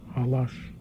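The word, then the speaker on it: Laszlo Halasz: City opera under Laszlo Halas, or Halash, I've heard both pronunciations.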